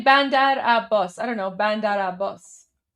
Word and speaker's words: Bandar Abbas: the app boss part for the app boss part, think of like a boss. So, you know how you how you would say like uh you know, a boss. So, bandara bandara boss.